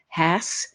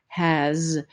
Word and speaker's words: has: with the sounds because the letter S in the word has represents Z. It doesn't represent S. The word is not has, it is has.